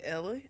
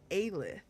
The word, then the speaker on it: Aelith: I guess the dog is going with you, Ella. Aelith. Imagine completely fucking up your own character's name. Aelith is how you pronounce that.